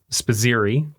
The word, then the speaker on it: Spizzirri: Talon is the animal, and he is a bearded dragon, and we're here with Spizzirri.